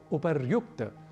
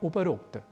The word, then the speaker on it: उपर्युक्त: शब्द मिलेंगे संधि होगी तो शब्द बनेगा उपर्युक्त ना कि उपरोक्त यदि ऊपर ऐसा शब्द